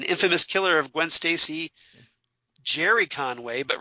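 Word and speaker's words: Gerry: stacy jerry conway but referred to him as gary and i take full responsibility for i apologize i i you know i i know a gary personally that's that it's spelled g-e-r-r-y but he pronounces it gary so that just kind of stuck in my head so i apologize for that jerry conway um the co-creators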